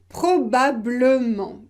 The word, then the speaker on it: probablement: Probablement, probablement. Imaginez que vous ne prononcez pas le « e ». Probablement, probablement.